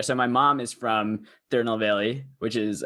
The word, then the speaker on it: Tirunelveli: So my mom is from Tirunelveli, which is how you pronounce it, but it's in the south side of India, basically on like the tip.